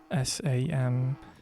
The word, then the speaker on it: Samson: It's a Samsung, not Samsung, Samson.